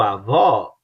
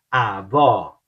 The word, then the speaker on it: avó: Avô e o avó, você abre e dá mais um ênfase no ó, like ó, avó, avó.